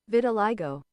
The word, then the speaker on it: vitiligo: How do you pronounce? Let's find. I'm helping everyone know. Vitiligo. Vitiligo. That's how you pronounce it? What the hell? Vitiligo. I liked my word better.